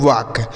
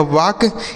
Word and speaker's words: walk: हो जाएगा आखिरी मात्रा, यहाँ L साइलेंट है मतलब इसको नहीं पढ़ा जाएगा। ठीक है, के से हो जाएगा क, इसे पढ़ेंगे वाक। WALK इसे पढ़ा जाएगा वाक।